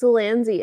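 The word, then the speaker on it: Zelazny: See, Mike, I think it's pronounced Zelanzi, and that's what I thought too, but then the placement of that second Z really screwed me up just now.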